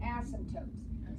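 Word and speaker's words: asymptotes: and it's silent so don't say ASM tootes that's like my pet PE there's no P at the end of the word and the only p in the word is silent they're called ASM tootes and they are going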